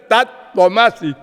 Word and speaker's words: tat tvam asi: There is that one Vedic mantra, tat tvam asi. She was pronouncing that as tattumasi.